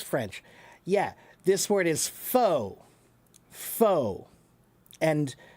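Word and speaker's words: faux: And how do you pronounce it? Abdul knows because Abdul speaks French. Yeah. This word is fo. Fo. And f a ux fo. It means fake. Fake. false, artificial, fake, foe.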